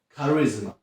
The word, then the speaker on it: charisma: Oczywiście są pewne reguły, na przykład najczęściej CH wymawiamy jak K, na przykład character, czyli charakter, albo charisma, czyli charyzma. Albo jak te CH stoi w środku wyrazu, na przykład technology, czyli technologia.